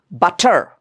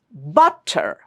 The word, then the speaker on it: butter: So when you pronounce the word butter you don't say it this way like butter. No, it's butter. Butter. the syllable but is louder, stronger and long longer and stronger.